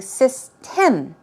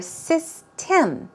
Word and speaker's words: system: zodiac what about system I do find a lot of people saying sis Tim she said Tim or system okay it's more of um sound system system um um sound it's not N it's um so let's try this system one more time systems dress goes right there okay keep in mind it's not M it's um so we're talking